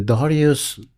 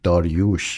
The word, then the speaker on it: Darioush: The Darius the King of Persia, Achaemenian, 2,600 years ago. Mm-hmm. Pronunciation in US is Darius, but in the correct pronunciation in Farsi is Darioush.